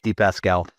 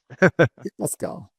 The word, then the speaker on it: dePascale: Very frequently mispronounced and you were very very close to exactly right. So thank you. It's it's the Pascal. Deep Pascal. Yes.